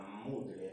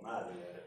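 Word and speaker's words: Muddler: un alevín, que eso se llama mudler o madler, como se quiera, dos, se puede decir de dos maneras. O sea, nosotros somos, mudler es, está escrito, y es madler como se pronuncia.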